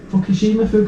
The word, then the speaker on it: Fukushima: I think it's Fukushima.